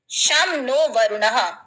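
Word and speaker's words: शं नो वरुणः: नीचे मोटो लिखा है शम नो वरुण शम नो वरुण जिसको शमन वर्ण प्रोनाउंस करते हैं च मीन इसका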